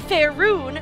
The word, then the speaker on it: Faerûn: beneath their own beneath fair rune that is how you pronounce that faerûn the Dark Elves